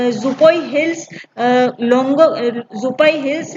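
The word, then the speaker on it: Tlawng: नदी है वो है लिंगो नदी। देखिए इसका जो स्पेलिंग है वो TL से स्टार्टिंग होती है, इसकी लोंग नदी कहते हैं इसको। इसका प्रोनाउंसिएशन टी साइलेंट है, नदी का नाम लोंग है।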